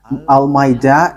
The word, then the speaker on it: Almeida: So, the way you write it, Almeida, is as it is pronounced, Almeida.